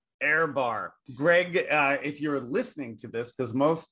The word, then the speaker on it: Ehrbar: you say it first oh you're the air it's airbar airbar Greg uh if you're